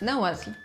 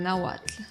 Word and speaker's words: Nahuatl: They sound W with a W or a U, or a combination of HU and UH, like in the word Nahuatl.